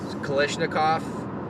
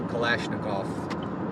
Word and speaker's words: Kalashnikov: you see my shirt kalishnikov that's how americans say at least kalashnikov um that's the k